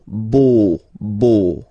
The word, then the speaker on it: beau: So remember this E, A, U combination of vowels only give you the sound O, beau, okay?